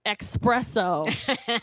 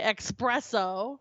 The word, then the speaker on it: espresso: went and got an espresso right here instead of espresso a lot of people say expresso yeah it's it's not it's not x it's not it's an s it's an s supposedly